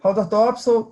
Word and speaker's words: Haldor Topsoe: Haldor Topsoe, não sei se eu falei corretamente, que é uma empresa dinamarquesa. Me conte um pouquinho da empresa. Bom, Haldor Topsoe pronunciou corretamente, né?